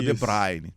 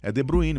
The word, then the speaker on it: De Bruyne: E o Kevin De Bruyne, que fala aqui no Brasil, é De Bruyne.